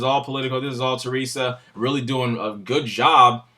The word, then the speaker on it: Theresa: do have thirst inmates I've been saying her name wrong for about four weeks Teresa okay um you just wouldn't